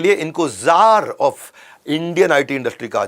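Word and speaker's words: Czar: वैसे सी जार होता है, लेकिन सी साइलेंट होता है।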